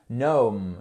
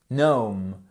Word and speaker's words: gnome: un peu moins courants ça se dit N et pas gnome surtout pas Gome the gen Gome funny